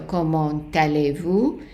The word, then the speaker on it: comment allez-vous: doing as comment allez-vous, and make sure that you put the liaison between the T and the A. So comment allez-vous. So the T is usually not pronounced, but if the comment is followed by a vowel, then you will have to pronounce that T.